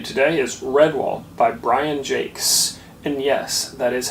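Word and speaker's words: Brian Jacques: recommendation for you today is red wall by Brian Jake's and yes that is how you say his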